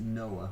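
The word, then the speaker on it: NOAA: Oceanic and Atmospheric Administration we pronounced it Noah we had a program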